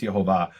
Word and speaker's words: Yehovah: And within 30 seconds, I found a rabbi who says straight out the name is Yehovah with the vowels Shvach, Olam, Kamatz.